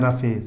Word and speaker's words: roughage: आगे हमारा रफेज, इसको क्या पढ़ते हैं, इसका जो प्रोनाउंसिएशन होता है इसको बोलते हैं रफेज, है ना।